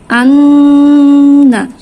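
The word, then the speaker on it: إِنَّا: গুন্না হচ্ছে নাকের বাসি থেকে উচ্চারিত হয় এবং ন্যূনতম 2 সেকেন্ড ধরে রাখতে হবে। তাহলে আমাদের উচ্চারণ হবে আন্না, হামজা নুন জবর আন, নুন জবর না, আন্না।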